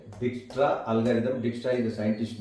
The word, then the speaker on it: Dijkstra: Here J is silent. Dijkstra algorithm.